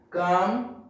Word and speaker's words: calm: At the end of the word, between A and M, L is silent. Like calm, balm, palm, psalm.